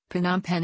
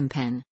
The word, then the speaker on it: Phnom Penh: For instance, Phnom Penh is sometimes be shortened to Mpen.